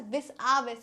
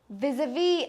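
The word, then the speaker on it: vis-à-vis: vi vi vi anyway it is not Vis it is VII what is it it is viavi and in us also we pronounced it as viavi viavi but what does viavi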